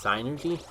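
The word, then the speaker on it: Psynergy: Where the freaking equivalent to magic in that universe is called I guess it would be pronounced synergy. I always pronounce it synergy. With the P, with like a soft P.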